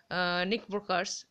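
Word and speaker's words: knickerbockers: দেখো ইয়ারের এখানে আটটার উচ্চারণ হবে না, এখানে ইয়ারটার উচ্চারণ হবে না, এটার উচ্চারণ হয় নিকাবোকা, এরকম উচ্চারণ হয়, মানে নিকার ব্রোকার এরকমও বলতে পারো তোমরা।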